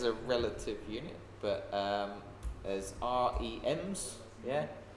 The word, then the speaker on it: rem: As a relative, percent is a relative unit, but as REMs, yeah. How do you pronounce that? Rem, yeah, as you said, rem, yeah.